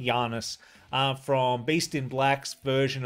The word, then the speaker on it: Yannis: video i'm doing janice's i believe his name is pronounced janus might be janus from beast in black's